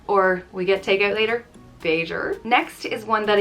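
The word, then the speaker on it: b'fhéidir: next up is beijer which means maybe it's pronounced bae der vader and it will be used like uh you're going for a drink tonight beiger or we get takeout later vader next is one that i use every day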